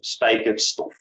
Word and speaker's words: spijkerstof: The material itself is called spijkerstof. So nail fabric. Again, ei, kind of a difficult sound for some. You pronounce it by first saying an and then going to e.